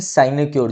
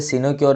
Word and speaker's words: sinecure: इसे हम बोलते हैं साइनेक्योर जॉब। कई बच्चे सिनोक्योर भी बोलते हैं, जैसे मर्जी प्रोनाउंसिएशन रख लो, स्पेलिंग का ध्यान रखना है।